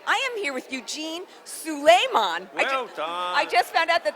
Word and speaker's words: Souleiman: modern salon tv i am here with eugene suleiman i just found out that that's how he pronounces his name we're backstage at peter psalm